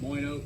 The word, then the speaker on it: Moyno: cavity pump uh there's a manufacturer called moyno that's spelled m-o-y-n-o so a lot of people just call it moino puffs uh but I have an example of